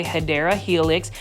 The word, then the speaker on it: Hedera helix: You will see a Hydra helix. Say it with me, plant foldies. Hydra helix, or the correct way to say it, if you want to say it the correct way, Hedera helix.